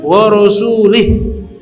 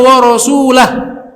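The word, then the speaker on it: وَرَسُولُهُ: Annallaha bari'un minal musyrikina wa rasulih, harusnya wa rasulah. Ketika diterjemahkan kita bisa tahu kesalahannya fatal. Dia bacanya apa?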